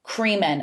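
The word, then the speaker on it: Kremen: So kind of started in 1994 by a guy named Gary Creeman. I remember that his name rhymes with semen.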